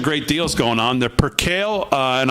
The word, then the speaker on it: percale: They're percale, and I will say it correct this time so I don't get 900 emails telling me that I pronounced it wrong. Percale, I believe is how you pronounce it.